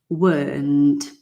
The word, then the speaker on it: weren't: Alan, weren't. Okay, you weren't there. Now, when you say it really quickly, sometimes you don't say the T at the end because it's like this, isn't it?